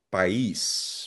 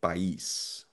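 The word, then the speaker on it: país: Pais. May asento letter I. Pais.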